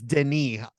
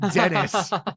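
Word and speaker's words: Denis: up first of all his first name is Deni not Dennis and honestly I have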